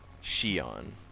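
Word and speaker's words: Xion: ] over there that's okay so Roxas and Shion that is how you pronounce it Shion Shion yeah she has black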